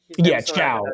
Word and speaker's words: Thiaw: How do you say his Chow is how it's pronounced. It's a bit tricky.